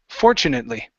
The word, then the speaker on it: fortunately: this word here fortunately the stress is at the very beginning instead of fortunately it's fortunately fortunately okay very nice and your